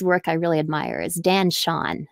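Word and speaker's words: Dan Chaon: And another writer whose work I really admire is Dan Shawn. It's spelled like chaos, but with an N.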